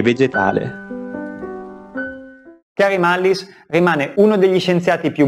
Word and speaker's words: Mullis: questo grande scienziato, perché non conosco bene la pronuncia del suo cognome, quindi credo di averlo chiamato Mullin, Mullis, Mullin, Mullins, ma credo che si scriva Mullis e si pronunci Mullis.